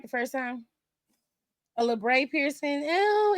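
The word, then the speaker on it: labret: Labre? A labre?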